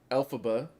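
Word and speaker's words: Elphaba: mild tangent matrice says alphaba is the phonetic pronunciation of lfb and L frank Bal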